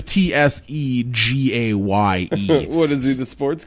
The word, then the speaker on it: Tsegaye: Tesge Kebede. Well, at least it is Tsegaye.